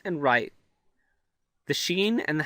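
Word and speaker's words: ش: So here we have the sheen, and the sheen makes the sh sound in Arabic. For example, as in ship in English. So that's not too difficult.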